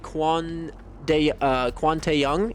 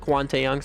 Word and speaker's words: Kwon Tae-young: I believe Kwon Tae-young, if I'm not mistaken, is how you pronounce it. Kwon Tae-young, something like that.